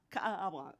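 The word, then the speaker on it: Kaʻaʻawa: And Kathryn welcomed us to her lovely home in, okay, excuse my pronunciation, Ka'awa? Ka'awa.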